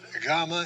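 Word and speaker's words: γάμμα: Remember that gamma is G as the G as in got, but if it has an E sound after it, either a short E or a long E, and we'll see what they are in just a moment, it will have a Y sound, as in yet.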